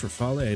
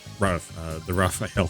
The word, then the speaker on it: Rafale: I know some people pronounce it Rafale, some pronounce it Rafale. I think it's actually pronounced Rafale. I'm not too sure. It is a French fighter, if I remember right. But as a kid, I always pronounced this as the Raphael for some reason.